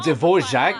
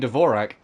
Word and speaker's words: Dvorak: and Mr Dvorak right oh divorce Jack I've been pronouncing oh I've been saying Dvorak so you already know